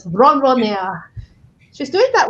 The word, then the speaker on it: ronronea: And jojonea. No, sorry, that's a French way to pronounce the Spanish word. Ronronea.